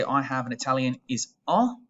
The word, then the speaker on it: ho: have an italian is ah make sure that you are not pronouncing the h you're not saying you're saying ah between hot and the